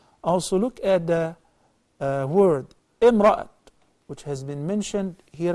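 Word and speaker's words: امرأة: This is how we pronounce التَاء المربوطة, the circle ta, if we stop at it, we say imra'a.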